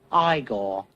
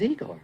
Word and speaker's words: Igor: No, it's pronounced Igor. But they told me it was Igor.